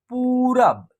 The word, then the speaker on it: पूरब: हुआ है ठीक है देखिए प और प में क्या है बड़ी उ की मात्रा का प्रयोग हुआ है ऐसे तो इसका उच्चारण होगा पू प और बड़ी उ की मात्रा का उच्चारण एक साथ होगा पू उसके बाद र उसके बाद क्या है व है तो इसका उच्चारण होगा पूरब क्या होगा पूरब आप